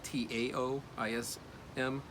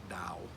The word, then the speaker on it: Taoism: It's spelled with a T, Taoism, but it's pronounced more like a D sound, like Tao, the Tao.